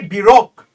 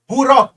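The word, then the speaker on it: Baroque: क्यू ई ए को बरोक बु रॉक बुरक बोली को तो एक्चुअली बु रॉक प्रोनाउंसिएशन अपना प्रोनाउंसिएशन हो तो बु रॉक बु रॉक बुरक माने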